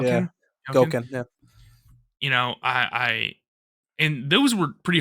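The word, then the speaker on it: Gouken: Is that how you pronounce his name? Gauken? Yeah. Gauken, yeah.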